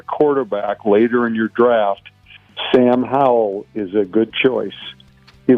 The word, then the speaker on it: Sam Howell: Sam Howell is how you say it.